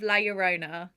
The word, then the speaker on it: La Llorona: finally the curse of la yorona i think i'm pronouncing that right i'm just going with the double l meaning yeah i knew i